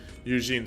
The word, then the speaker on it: Eugen: I mean, Eugen is the German pronunciation. I mean, he originally was born in Savoy, and I would guess that the French pronunciation is closer to like the Eugene.